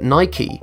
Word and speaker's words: Nike: Surprisingly, Philip Knight returned the letter having circled on Nike, bringing to an end the debate, and thus it's become official that Nike rhymes with spiky.